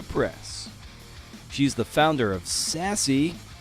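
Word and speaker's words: SASE: she's the founder of sassy uh it's spelled s a e like self addressed stamped envelope who remembers those baby uh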